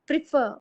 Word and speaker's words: prefer: Prefer. Prefer. Prefer. Very good. Shalini. Prefer. Don't stress the pre.